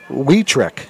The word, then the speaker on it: Weick: a run and Bill the pronunciation on that I just got a Texas weick weick okay well this is